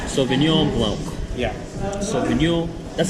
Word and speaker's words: Sauvignon Blanc: This was Sauvignon Blanc. Sauvignon Blanc.